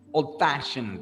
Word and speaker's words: old-fashioned: In this case, we stress the second part. So we said bad-tempered, old-fashioned, we stress fashioned, all right?